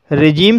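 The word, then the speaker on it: regime: रिजीम, रिजीम शब्द में आई का उच्चारण आई ना होकर के ई हुआ है, इसलिए इसे रिजीम पढ़ा जाता है।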